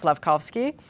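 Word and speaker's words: Slafkovský: Forgive me if I mispronounced the name, but it's Slevski.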